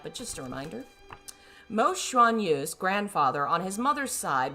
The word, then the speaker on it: Xuanyu: I think it's Xuan. X is like a SH sound.